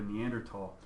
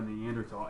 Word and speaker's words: Neanderthal: found recently of a Neanderthal and it is tall by the way there's no you don't pronounce the H just as a heads-up it's because it's German for valley it's me it's the